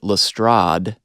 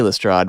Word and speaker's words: Lestrade: of course too because he pronounces it lastrad yeah rhyming with odd and so that forces me to say lestrade which i don't like even though i guess probably more people say it that way stephen fry says it